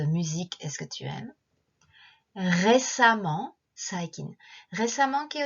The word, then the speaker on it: récemment: Récemment, saikin. Récemment, ki o tsukete 2番目は e で書くけど発音はa.